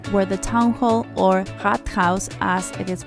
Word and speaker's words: Rathaus: We then got to the city center, where the town hall, or Rathaus as it is pronounced in Germany, is located, got our Starbucks fix and went on to explore more of the city.